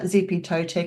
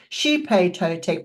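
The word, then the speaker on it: Xipe Totec: Actually, it's not Zippy Totek. It's actually pronounced, I've got to just double check my notes. It's Shipe Totek, but it's spelt Zippy Totek.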